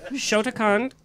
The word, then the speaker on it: Shotokan: Want me to take over and pronounce it for you? Yes! Shotokan.